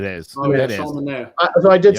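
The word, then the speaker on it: Manaea: Manea.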